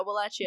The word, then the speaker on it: Wallachia: You said I was saying that right? Yeah, Wallachia, yeah. So he was Vlad the Third, Vlad III.